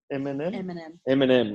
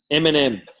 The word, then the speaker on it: Eminem: Eminem, like the food. Eminem.